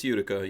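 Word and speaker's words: Utica: had left over um bayonet stuff yeah it's UDA yeah yeah so what they did as the Indians said UDA UD no I'm just making that up I'm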